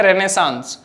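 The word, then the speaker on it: Renaissance: मान के चलते हैं रेनेसांस। रेनेसांस एंड रेनेसा, both the pronunciation are accepted nowadays. इसको प्रोनाउंस करने के लिए आप रेनेसा भी प्रोनाउंस करें तो सही है, और रेनेसांस भी आजकल एक्सेप्टेड है।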